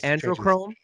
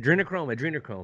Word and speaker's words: adrenochrome: Androchrome? Androchrome? Oh. Androchrome? How do you say it? Adrenochrome. That's what it is.